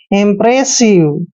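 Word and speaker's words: impressive: उच्चारण करेंगे हम इंप आई एमपी को क्या पढ़ना है इंप और आर को र लिखते हैं ए को ए की मात्रा पढ़ते हैं एस का उच्चारण श लिखेंगे आई को छोटी ई की मात्रा लिखते हैं और व का उच्चारण व करेंगे यानी कि रिसिव इंप्रेसिव इंप्रेसिव होता है दोस्तों बदलाव करना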